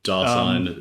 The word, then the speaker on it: Dasein: Heidegger's Dasein, or I don't know how to pronounce it. Well, yeah, Dasein, it's just being there, isn't it?